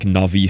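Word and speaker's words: Nauvis: Yeah, it was also called novice in 1.0, which is spelled like this, but it's very clearly this. Although, I think they say it like Navvice, so maybe it's some weird check thing.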